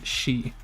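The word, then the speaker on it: し: new ones we learned the saw column had a exception where instead of c like e and key it's pronounced she so we have saw which looks like a kind of like a sideways bent sign saw and this is the exception here she like in sushi it looks like a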